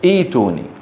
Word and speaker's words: ائتوني: عند البدء أصلها ائتوني ثم تصير إيش؟ إيتوني.